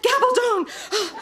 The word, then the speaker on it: Gabaldon: I'm going to mispronounce it. It's bad to the bone. Gabaldon.